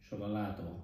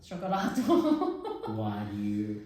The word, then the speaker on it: cioccolato: which is exactly why my pronunciation in Italian sometimes is off when I say chocolat instead of Chocolato. cioccolato.